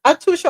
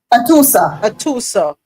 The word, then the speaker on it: Atusa: Atusha, is it Atusha or Antusha? I keep mispronouncing her name. Atusa.